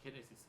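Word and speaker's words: γένεσις: 자, 이 단어의 원형은 게네시스예요. 게네시스, 헬라어로. 자, 그 뜻은 뭐냐면 기원, 출생, 혈통 이런 뜻이 있어요. 라틴어로는 게네시스라고 읽습니다. 영어로는 제네시스예요.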